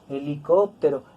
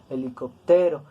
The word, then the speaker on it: helicóptero: ante penúltima sílaba sábado helicóptero está terminada en vocal pero nosotros no lo pronunciamos grave no decimos helicóptero el acento está en